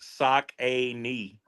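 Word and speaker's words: Saucony: I remember it used to have the phonetic pronunciation of Sakin on the box. Sock a knee.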